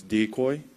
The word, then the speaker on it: Decoy: So his name is Dekoping. That's a Japanese name, and I figured it'll be hard for American people to pronounce it. So he has an American name, and it's Decoy. So yeah, you could call him Decoy or Dekoping.